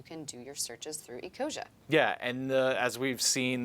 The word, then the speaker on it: Ecosia: Ecosia, I pronounced it correctly.